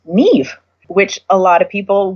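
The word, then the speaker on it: Niamh: them excited and and when you see an Irish name that is spelled and a H M I know that that means Neve which a lot of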